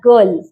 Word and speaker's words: girl: उसके बाद गर्ल, गर्ल में आई आर साइलेंट है, गर्ल बोलते, इट्स GIRL, बट हम आर का प्रोनाउंसिएशन ही नहीं करते हैं, ओके।